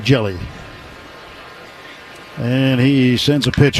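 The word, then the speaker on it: Hjelle: Jelly the ultimous sinker. Jell's name spelled H J E L L E pronounced just like Jelly.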